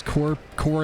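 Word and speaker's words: corps: The word core comes from the Latin corpus for body. Don't pronounce the P, or you're talking about the kind of body that goes in a coffin.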